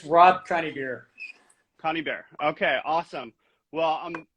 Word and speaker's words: Conybeare: Did I pronounce that correct? Yeah, it's Rob Conybeare.